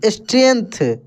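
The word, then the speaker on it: strength: Life with more, STRENGST, स्ट्रेंथ, क्या पढ़ेंगे दोस्तों? स्ट्रेंथ। देखिए थोड़ी सी ध्यान दीजिए यहाँ पे, ये जो जी लिखा है, जी, ये यहाँ पे साइलेंट है, ठीक ना? स्ट्रेंथ पढ़ेंगे।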